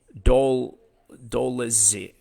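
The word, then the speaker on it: Dolidze: I never know how to pronounce his name. Doledzi.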